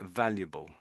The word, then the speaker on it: valuable: It's a little bit W like at the beginning when I hear you saying it. And it's just a It's a very strong VV sound.